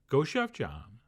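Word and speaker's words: 고추장: of Korean chili paste which goes by the name goou Jang or as many people prefer to pronounce it Goa Jan and all we have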